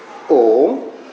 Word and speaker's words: Om: Om. The Om is made up of 3 syllables. A, Akara, U, Ukara, M, Makara.